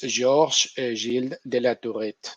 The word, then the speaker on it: Georges Gilles de la Tourette: Y obviamente lo pronuncio en francés porque nací en París y lo pronuncio en francés porque este hombre pues es francés, ¿no? Y por tanto se merece como mínimo que lo digamos bien, ¿no?